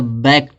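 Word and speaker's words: backed: जब इसमें ईडी जोड़ेंगे इस ईडी को उच्चारण क्या निकलेगा, टा निकलेगा, तो बैक्ट हो जाएगा, बैक्ड नहीं होगा, बैक्ट हो जाए होगा।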